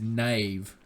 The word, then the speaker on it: knave: now even backwards is knave knave has a silent K in the front says K and a ve I will expand on